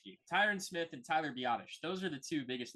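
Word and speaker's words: Biadasz: Smith and Tyler uh Tyler badass batas I don't know how to say bish Bish is how you say it yeah okay thank you Tyron Smith and Tyler badish those are the two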